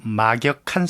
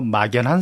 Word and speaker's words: 막역한: 우리가 친한 친구를 두고 막역한 사이다. 예. 혹은 한자어로는 막역지우다 그러는데 이걸 일부에서 요즘 젊은 세대들이 발음을 잘못 알고 막연한 사이다 그렇게 쓰는 경우들이 있어요. 이거 잘못되는 건데 막역하다는 게 뭐겠습니까?